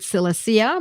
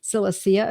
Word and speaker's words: Silicea: Some people pronounce it silicea because, of course, it's Latin, and we also pronounce it in English as well. So silicea of Latin and silica in English.